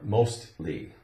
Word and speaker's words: mostly: a t sound now if we say mostly l y at the end it still has that t sound mostly justly justly right in